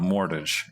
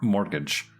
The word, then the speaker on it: mortgage: the mortgage like depre i don't imagine you pronounce the t do you okay yeah i think